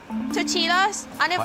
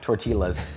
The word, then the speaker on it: tortillas: I bet it's the same like you make tortillas. Tortillas. Yeah, that's not how you say it. Tortillas.